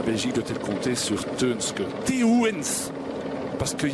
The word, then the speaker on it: Teuns: La Belgique doit-elle compter sur Teunske, Teuns, parce qu'il y a beaucoup de personnel italien justement dans l'équipe Bahreïn et prononcer Teuns c'est pas si facile et le personnel l'appelle Teuns.